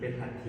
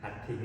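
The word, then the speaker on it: หัตถึ: หัด ถี เห็น มั้ย หัด ถิง เนี่ย ไม่ ใช่ หัด ถึ เนา มัน คือ สระ เวลา เขียน ใน ภาษา บาลี มัน คือ สระอิ กับ นิค หิต นะ 2 อย่าง แต่ ว่า พอ มัน พิมพ์ ไม่ ได้ ก็ เลย ต้อง เขียน เป็น อ่า สระอึ ก็ เลย อ่าน ว่า หัด ผิง อ่า หัด ผิง แปล ว่า ช้าง อัน นี้ คือ การ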